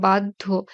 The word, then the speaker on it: বাধ্য: আবার বাধ্য, ধ এর অল্প প্রাণ ধ্বনিটি হচ্ছে দ। কাজেই এই যে বাধ্য যখন লিখব, আগে দ এর উচ্চারণ আসে, তারপরে ধ এর উচ্চারণ।